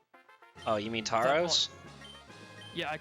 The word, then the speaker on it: Tauros: So people were complaining about the way I pronounced the Pokemon Taurus. Oh, you mean Tauros? Yeah, I call him Tauros.